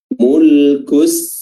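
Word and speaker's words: مُلْكُ: Ya, mulku ya, huruf kaf di sini yang berharakat dhammah. Di sini dia memiliki sifat hams, mulku ya, jadi dan juga pelafalan dhammahnya, pelafalan u-nya harus disempurnakan dengan baik.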